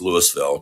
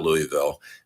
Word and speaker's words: Louisville: Carolina Florida uh and people know that it's Louisville not Louisville um I think that's